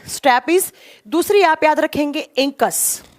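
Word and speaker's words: stapes: सबसे पहले का लिखेंगे स्टैपीज, इसको स्टैब्स भी बोला जाता है, कभी कभी ना इसको प्रोनाउंस करते हैं ना स्टैपीज या स्टैब्स भी बोलते हैं, ठीक है।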